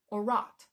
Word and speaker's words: o'er-wrought: Shakespeare often writes this with an apostrophe after the O, which means that we're skipping a syllable, o'er-wrought. Still means over-wrought.